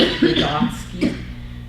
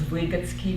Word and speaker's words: Vygotsky: I think in English he's pronounced Vygotsky, and in Russian it's Vygotsky, but I'm going to try to say him in English.